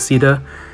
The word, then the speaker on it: Caeda: it, because, I mean, Sheeta's fine, because like the spelling Shiida is fine, I think, but Caeda is more accurate, and that's how you actually pronounce it in English.